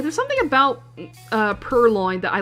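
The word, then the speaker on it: Purrloin: I said per lion. Perloin.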